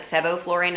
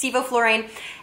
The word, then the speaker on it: sevoflurane: malignant hyperthermia are inhaled anesthetics he called it Sebo fluorine it's actually pronounced sevoflurane and the other drug is called succinylcholine and